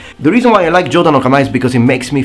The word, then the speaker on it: Jōdan no Kamae: So it's called, as we said, Jōdan no Kamae, or you can also pronounce it Jōdan Kamae.